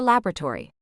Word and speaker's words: laboratory: her hours in her laboratory she hoped he'd read it with a British accent and with a stress on the second syllable like she heard it in her head laborator knowing Noah he just